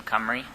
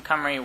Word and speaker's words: Cymru: heard of us team camry we're the name is covering pronounced comer e stands for it's Welsh for Wales we are a group